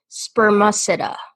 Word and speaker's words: spermaceti: whale before before I close this window it's pronounced spermaceti it still I don't know there was a